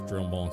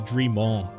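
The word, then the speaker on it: Drumont: A veteran through and through, just as Dromont said. Good. We have lost... I guess it would be Dremont. I'm pronouncing the L's too much. And I know French names, it's more of an E sound.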